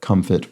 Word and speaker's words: comfit: nuts and fruits, comfits, and not pronounced like confit, which is the French term for cooking things at